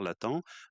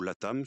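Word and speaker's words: Latham: Cette ce concurrent, c'est Hubert Latan euh ou la Tam suivant les les prononciations qui a un un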